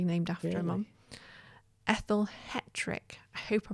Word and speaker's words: Hetrick: Ethel Hetrick. I hope I pronounced that right.